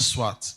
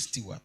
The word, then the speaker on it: Stewart: It's not Swat. It's Stewart.